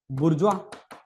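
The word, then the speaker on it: bourgeois: और ऊपर वाली कैटेगरी में इनको क्या बोलता था वो, बुर्जुआ, है ना, बुर्जुआ की स्पेलिंग बुर्गुइस पढ़ते हैं।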